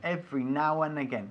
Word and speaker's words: every now and again: Cuando estamos hablando rápido, no solemos pronunciar la D de and. Every now and again.